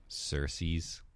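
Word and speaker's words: Circe: the book is c-i-r-c-e so like how do you say that cersei's i don't know why you put a c an s on the end of it but apparently it's cersei cersei yeah so you're right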